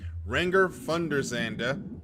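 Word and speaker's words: Renger van der Zande: Renger Thunderandanda, that is a that is the nationality pronunciation, not the American pronunciation, had his hands full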